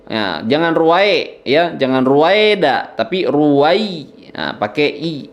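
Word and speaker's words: رُوَيْدًا: Ruwai, nah itu nggak boleh ruwai ya. Tapi ruwaid, nah, ruwai, nah itu lembut saja ya, mengalir.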